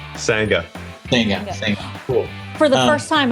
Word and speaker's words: Sangha: Sangha.